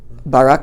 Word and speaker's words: Barak: bark bark bark Obispo pronounce the name it's Barack yeah sorry with Navarro that's